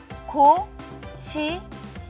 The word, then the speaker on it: 고시레: 고시래.